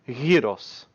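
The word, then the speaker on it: γύρος: and gyro is because they are literally the same in greek as they are pronounced hiros because the y and the g is literally the same letter so it's it's the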